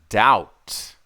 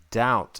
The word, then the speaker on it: doubt: yeah next one is doubt doubt I doubt it d o u b t that's right the B is silent and the last one